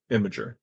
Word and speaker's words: Imgur: Imager. It's IMGUR, right? I am Gur, yeah, but I think it's pronounced Imager. Imgur. Imager, because I it's was images.